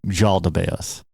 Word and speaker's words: Yaldabaoth: You can also pronounce the name Yaldabaoth. It starts with a J or it starts with an I, either way.